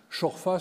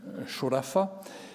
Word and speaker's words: Chorfa: Chorfa, c'est comme ça qu'on le prononce de manière, disons, locale. En arabe classique, ce serait Shorafa.